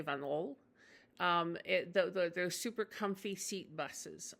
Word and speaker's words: Van Hool: is a Dutch company, sometimes pronounced Van Hool, like Oel instead of Ol, but I think the Dutch say Van Ol.